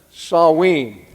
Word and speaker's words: Samhain: It's not spelled the way it's pronounced, Samhain.